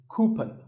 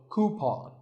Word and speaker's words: coupon: of these a coupon a common incorrect pronunciation is coupon but the second syllable should be pawn so coupon here's word number 16.